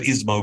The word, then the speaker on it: ISMO: company of South Africa I much preferred ismo because it rhymes with Gizmo the questions we need